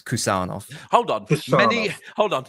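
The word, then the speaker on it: Khusanov: told by many obcs that is it's a hard K so it's kusov hold on many hold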